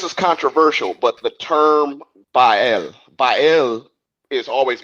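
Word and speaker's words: Baal: Okay, this is controversial, but the term bael, bael is always mispronounced as bale.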